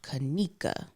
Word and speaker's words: Kanika: trainings and stuff and underneath my name i will write my name phonetically so people would know how know how to say it so it'll be a lowercase k-u-h-k and then a dash and then a capital n capital e capital e me and then a lowercase kuh konica right fools will still